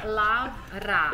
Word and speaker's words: Lavra: Lavra. Lavra. Love. Love. Like love. Yeah. And Ra, like Egypt god, you know?